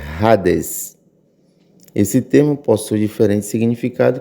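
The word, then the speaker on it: ᾍδης: Em português, para nós, Hades, a nossa pronúncia. Mas no grego, a pronúncia é Hades.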